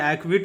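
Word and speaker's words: acquit: silent होगा ठीक है तो ए सी क्य यू आई टी का जो उच्चारण करेंगे हम लोग करेंगे वो एक् विट करेंगे एक् विट ठीक है इसका उच्चारण होगा एक विट इसको हम उच्चारण करेंगे एक क्विट और इसका मीनिंग होता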